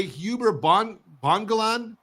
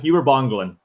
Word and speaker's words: Huber Bongolan: We're speaking today, Huber Bongolan. That's Credible right. CRE. Did I say it right? You got it. Huber Bongolan.